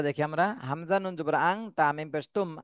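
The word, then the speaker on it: أنتم: দন্তন্য মতো পড়া যাবে না, অনস্বরের মতো পড়তে হবে। আং, আং তুম, আন। আন বললে কিন্তু ইকফার হলো না, ইকফা গুন্নার হলো না। এজন্য ইকফা গুন্না করতে গেলে অনস্বরের মতনই উচ্চারণ করতে হবে।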